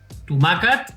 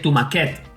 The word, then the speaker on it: tomàquet: falta afegir el tomàquet Tomàquet que és una paraula plana amb accent amb accent obert a la à, tomàquet perquè si no en portés, seria una paraula aguda i es pronunciaria: TomaQUET que tomaquet és un tomàquet petit. Per tant, no és el mateix és important l'accentuació.